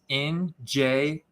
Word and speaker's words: Njigba: Space Smith, Smith, and then you have the dash in Jigba, which is Njigba.